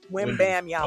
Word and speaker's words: Wembanyama: Wembenyama. It's French, though. Wembenyama. If you look at how it's spelled, Okay. it's just where you break it up. Wham bam. Nah, win. Wembanyama. Okay, Like it looks Wembanyama. exactly how it sounds.